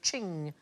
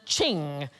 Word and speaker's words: Qing: It rhymes with bling. Ping. Thing. Thing. I like thing. Most expensive Chinese item ever sold at auction is a Qing vase.